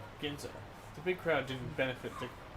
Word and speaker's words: Ginza: Or how do you pronounce that? I don't know. Ginza, I believe. Ginza? Right. Yeah. Ginza.